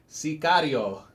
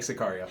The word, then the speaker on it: Sicario: I like to say it like Sicario. Yeah. They say it in the beginning. Sicario. It's Spanish for hitman.